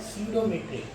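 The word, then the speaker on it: pseudometric: 13.5 है स्यूडोमेट्रिक। इसमें P silent होता है, PSEDU, PSEUDU।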